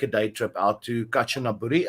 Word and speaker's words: Kanchanaburi: day trip out to Kanchanaburi. Am I correctly pronouncing the word? I think it's Kanchanaburi, yeah. Yeah, Kanchanaburi.